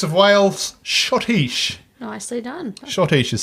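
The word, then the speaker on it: schottische: the leo's prince of wales shotish nicely done shotish is spelt awkwardly if you're looking for shadish on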